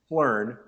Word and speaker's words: Phlearn: It's Phlearn, and they have a YouTube channel.